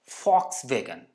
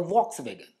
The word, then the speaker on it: Volkswagen: Now, see some brands pronunciations, like it's Volkswagen and not the Volkswagen.